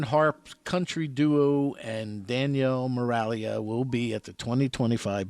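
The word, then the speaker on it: Miraglia: Well, that's very important you spell it because then people can Google it. Moralia.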